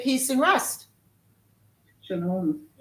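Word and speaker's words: שלום: Shalom. Shalom.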